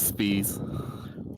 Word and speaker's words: Spies: Is that how you say it? It's Spies.